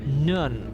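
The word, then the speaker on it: Nguyen: Thomas Nun, if that's we remember that's how it's pronounced, how the name is pronounced for those that don't know. At least that's what a Vietnamese person said.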